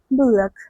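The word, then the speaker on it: bullock: বুলক, ওকে, উচ্চারণটা হবে বুলক।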